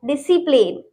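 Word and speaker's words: discipline: डिसिप्लिन, इसमें भी एस के बाद सी आ रहा है तो सी साइलेंट है, डिसिप्लिन।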